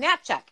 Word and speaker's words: Natchuk: Oh, Lanny pronounces her name Natchuk.